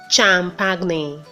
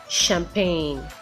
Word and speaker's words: champagne: it is pronounced as champagne champagne some attention article HG in the world but the G is silent it is just like